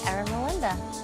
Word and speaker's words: Eramelinda: making a difference in my community univ eron Melinda I said it correctly you said it great